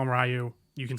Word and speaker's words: Ryu: So North American audiences in particular used to mispronounce Ryu's name, and we most likely, have this movie to thank for that.